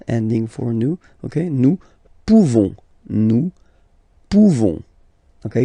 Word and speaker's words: pouvons: So classic ending for nous, this ONS ending for nous, okay, nous pouvons, okay, you don't pronounce the final S, nous pouvons.